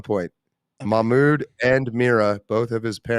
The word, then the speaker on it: Mahmoud: He is the son of Mahmoud Mamdani. That is accurate cultural pronunciation. Mahmoud.